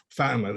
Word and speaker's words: Fatima: Is that how it's pronounced on the show? I forget it. Fatima, that's it.